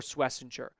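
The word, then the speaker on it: Schwesinger: But, it was a very good season for Swissinger. And I am pronouncing that correctly, by the way.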